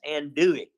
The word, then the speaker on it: andouille: Well, of course it does, because you guys aren't even pronouncing it right. It's andouille. It's an andouille sausage.